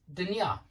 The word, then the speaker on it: дня: But the word day is not dien, it's dня. It's got an a sound at the end of it.